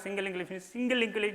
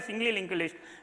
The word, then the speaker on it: singly linked list: about the single, but most of the people are talking about that single linked list, double linked list, but that is not the correct pronunciation. You try to apply the singly linked list, doubly linked list only. Please be remember that. Singly, doubly only, ly at the end.